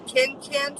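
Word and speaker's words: KanCan: The second one is a highrise Ken Ken Ken, but it's spelled K A N C A N. So Ken can signature high-rise size 26.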